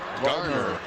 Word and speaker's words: Gardner: He's probably not going to like me very much, but it's Rusty Gardner. No D. Right.